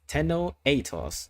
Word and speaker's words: Tenno Atos: have to do so my name is pronounced as tenno atos and my name comes from two languages tenno came from Japanese meaning emperor and atos coming from from Greek for Eagle because you know the